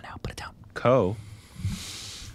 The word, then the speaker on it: Ko: Ko. Is that how you pronounce that? Yeah.